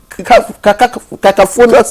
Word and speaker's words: cacophonous: But when we have different we are having a cacophonous, or what they call it, voice. Cacophonous. Thank you. The stress is on the second syllable.